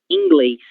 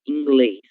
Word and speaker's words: inglês: Inglês. É como se hubiera una I, acá, depois de la E. Inglês, certo?